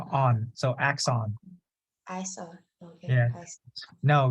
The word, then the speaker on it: axon: know Exon okay yeah so like this this this s have to be strong so axon all right okay all